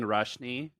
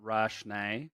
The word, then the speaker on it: Rashné: name um and so i've always just been doing rashny and i think your bio says it's pronounced rashney um so yeah my